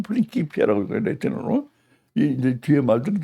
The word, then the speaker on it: 프린키피아: 요거 이제 레티올레이지 인류 역사상 가장 유대한 과학사라고 하는 프린키피아요 프린키피아 요게 레티너는 프린키피아라고 프린시피아라고 읽지 않고 프린키피아라고 읽거 레티너이 이제 뒤에